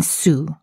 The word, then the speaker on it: sous: There's an OU in sous, so the sound is indeed OO.